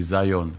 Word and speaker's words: Zion: C'est seulement en anglais qu'on dit Zion comme on dit Jean en français et John en anglais.